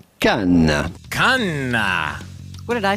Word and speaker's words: Cannes: Well, first you have to know that the S at the end of Cannes is definitely silent. So do not say Canis or Cannes, but rather simply Cannes. Cannes.